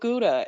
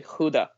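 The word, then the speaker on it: Gouda: what oh that's right that's how you guys mispronounce it over there and it was that instant moment of going what do you mean we mispronounce it isn't it guda they're like no it's actually Huda like yeah what and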